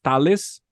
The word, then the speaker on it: Thales: Thales of Miletus, Thales, the pronunciation here in Portuguese and in Latin languages is Thales.